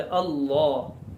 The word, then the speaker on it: اللہ: اور زبان اس لفظ کے تلفظ میں منہ بھر کر تلفظ کرے، اللہ اللہ، اس لفظ کو